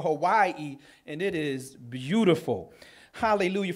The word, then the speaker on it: Hawaii: now I've been to as the locals say Havi or Hawaii and it is beautiful